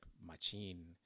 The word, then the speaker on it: Makiina: a play on words it entices Mexican people to pronounce it like Machin which means badass in Spanish it also makes people